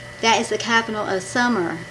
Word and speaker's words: Sumer: Hebrew, the word you are, the you're, that is the capital of summer. I may not pronounce this right. It's S-U-M-E-R. I figured it's like summer, but our summer has two M's.